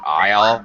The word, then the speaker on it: isle: I will, Isle, like in a grocery store, Aisle, Isle as in island, Isle. The pronunciation is and should be absolutely identical, right?